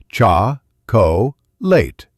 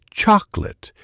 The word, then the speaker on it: chocolate: In some languages, you might say it with three equal beats. Cha co- late. In English, we say chocolate with the stress on the first syllable. Cha late. The other syllables are small and fast.